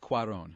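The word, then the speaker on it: Cuarón: It's pronounced Cuaron.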